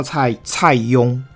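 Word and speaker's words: 蔡邕: 那个字叫蔡邕，好邕，就是我大概会写，但是我就不太会念那个字邕啊，蔡邕，应该是他啦，蔡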